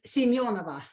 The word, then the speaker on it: Semyonova: Semyonova? Close. It's Semyonova.